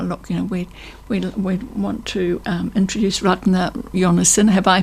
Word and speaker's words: Ragnar: And he goes, Ragnar, and it does bear no relationship to how we would pronounce it. The emphasis is very different. It's to do with the emphasis.